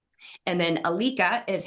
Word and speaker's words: Ilike: Hungary and that's how it's spelled and then Alica is how you pronounce our products everybody trashes the name it's okay but it's Alica and so in the United States we're known